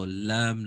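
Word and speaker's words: لام: So, Laam, Laam, Laam. This is quite easy in L, almost like the L sound.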